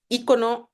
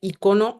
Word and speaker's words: ícono: viene del griego icon Las dos y formas son correctas, ícono o icona.